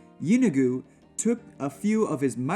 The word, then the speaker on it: Yeenoghu: According to legend, all Gnolls are descendants from the demon prince Yeenoghu, pronounced Yi-No-Gu, the ruler of ruin and the lord of savagery.